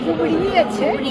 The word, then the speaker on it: कुबड़ी: लेकिन दूटा हम बुझलियै ओना कुबड़ी सही उच्चारण कुबड़िए छै कुबड़िए छै तो कुबड़ी के मतलब